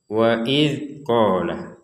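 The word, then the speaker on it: وإذ: Waidzolah. Perhatikan ini adalah huruf dal ya. Huruf dal yang ada titiknya di atas namanya huruf dalal.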